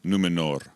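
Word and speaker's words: Númenor: island kingdom of numenor well-pronounced r on the end numenor numenor i don't want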